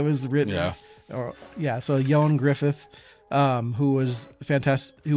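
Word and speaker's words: Ioan Gruffudd: sorry I can't pronounce his name is not pronounced the way it looks no I thought it was Ian The Way It Was Written or yeah so yon Griffith um who was fantast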